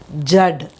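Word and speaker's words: जड़: Now we will pronounce it in Hindi. It is Jad. Jad. Jad means root. Okay?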